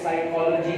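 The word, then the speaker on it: psychology: बाद अगर P starting में हो तो P साइलेंट होता है। न्यूमोनिया पढ़ेंगे, इसको साइकोलॉजी पढ़ेंगे।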